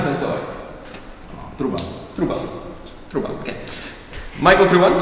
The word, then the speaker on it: Truban: Michael Turban, if I'm pronouncing that correctly. Okay. Close enough. Truban. How do you pronounce that in Slovak? Truban.